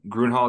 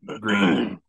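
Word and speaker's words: Gruene: jail or something by grun Hall um gral did I pronounce that right uh green the great spot we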